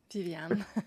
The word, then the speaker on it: Viviane: refreshing to hear you say my name correctly Vivan because you know as a French canadi